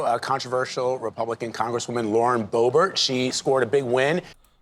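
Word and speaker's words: Boebert: or Bo is it it's bobbert right I always say bowart goodness gracious I'm I'm almost positive it's pronounced bobbert um but listen he ran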